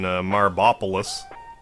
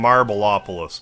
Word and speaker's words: Marbopolis: Okay, so let's just head to our destination for this episode over here in Marbopolis. I call him Marbleopolis, but it's Marbopolis.